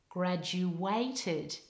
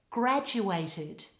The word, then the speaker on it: graduated: a graduate a graduate now in the word graduated I often hear non-native speakers put the stress on the third syllable like this graduated this is incorrect the stress in this word should be on the first syllable like this triad graduated